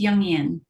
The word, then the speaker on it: Jungian: a the founder of envision feminine leadership a jungian life coach did i pronounce that right it's jungian let's see i should have asked you first